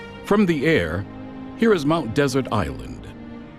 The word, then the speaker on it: Mount Desert: From the air, here is Mount Desert Island, however pronounced by the locals, Mount Desert Island.